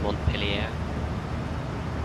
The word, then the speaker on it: Montpellier: I don't think they say the R. I think this just Mont Pelier.